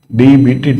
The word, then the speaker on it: debt: DEBT, debt we call it, debt. B is silent, debt.